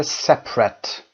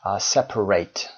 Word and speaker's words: separate: Separate اگر adjective باشه قبلا گفتیم تلفظش میشه separate. Separate. For example, we have a separate bedroom. یک اتاق خواب جدا هم داریم. But when we are using it as a verb, we pronounce it separate.